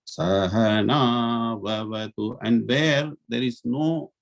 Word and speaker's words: Sahana Vavatu: not go up or down, it should be Sahana Vavatu.